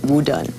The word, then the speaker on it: Wu Dun: And then hang up, he decided, well, he's going to take the Mandarin pronunciation of his name and call it Wu Dun.